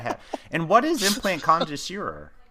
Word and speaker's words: Concierge: And what is Implant Concierge?